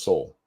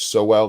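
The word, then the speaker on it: Sowell: know the name Thomas Soul some people say it so well that's not how you say it's Thomas soul um how many you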